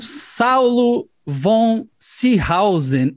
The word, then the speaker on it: Saulo von Seehausen: Estou aqui com Saulo von Seehausen. É essa a pronúncia, Saulo?